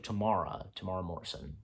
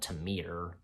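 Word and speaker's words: Temuera Morrison: Yeah, that's how you say his name, I believe, Tamara Morrison, not Tamir.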